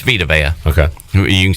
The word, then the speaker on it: Vita Vea: It's Vita Vea.